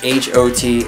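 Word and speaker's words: H.O.T.: and G O D their names are pronounced H O T and G O D even though they're actually acronyms you know hot and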